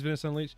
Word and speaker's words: Venice Unleashed: Is it called Venice Unleashed, or am I pronouncing that wrong? No, you're saying it right. Okay, it is Venice Unleashed.